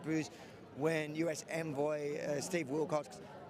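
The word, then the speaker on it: Witkoff: I guess last night it did sound like there was large booze when US envoy Steve Wilcox, how do you pronounce his last name? Will Cox It was cutting again.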